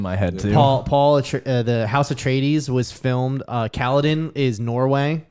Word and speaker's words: Atreides: No, it's not Atreus. Is it just broken in my brain from God of War? Atracitus, or what is it? Atreides. Atreides.